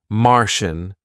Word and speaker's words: Martian: all referring to places so Egyptian Martian that's from the planet Mars and Venetian from Venice in Italy so and from Egypt of course so Egyptian Mar Venetian okay so all these different spellings but they all result in shun at the end okay then we have